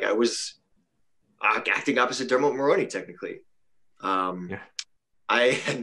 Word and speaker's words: Dermot Mulroney: right sandhya Mulroney the dude from new girl Dermot Mulroney I got it right I said it right